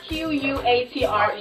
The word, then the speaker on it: Quatre: It's Quatre. It's spelled Q-U-A-T-R-E.